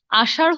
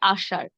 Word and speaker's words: আষাঢ়: যেমন আষাঢ় না হয়ে হবে আষাঢ়।